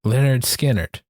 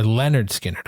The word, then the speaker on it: Lynyrd Skynyrd: Pronounced Lynyrd Skynyrd, or Lynyrd Skynyrd, I guess.